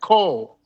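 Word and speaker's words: כל: We We pronounce that Cole.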